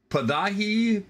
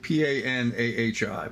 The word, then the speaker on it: Panahi: And so I'm watching the news this morning, and there's this Rita, I don't know how to pronounce her name, Rita Padahi, Panahi, P-A-N-A-H-I, Panahi.